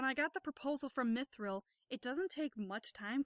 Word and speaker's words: mithril: basically going like, oh, you should absolutely be pronouncing this mithril and not mitril for half the game.